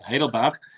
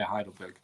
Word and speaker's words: Heidelberg: But yes, so what do you call, as I said, Heidelberg? That's how you pronounce it. I always said Heidelberg, but they will punch you over there if you say Heidelberg.